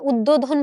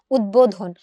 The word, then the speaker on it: উদ্বোধন: এই উদ্বোধন শব্দটির উচ্চারণ কেমন একটু বলতো। এটার উচ্চারণটা এরকম না অনেকটা একটু খেয়াল করো তো উদ্বোধন আমরা উচ্চারণটা এইযে এরকম করে করে উদ্বোধন কিন্তু আমরা বলি না আমরা কি বলি উদ্বোধন তাহলে এইযে উদ্বোধন বলছি সেখানেও আমরা কি দেখছি ব এর উচ্চারণটা বহাল আছে কেন বহাল আছে কারণ